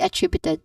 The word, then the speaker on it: attributed: vowel sound and then followed by attributed. Attributed attributed which has four distinct syllables starting with a short a vowel sound followed by tri which is the stressed syllable.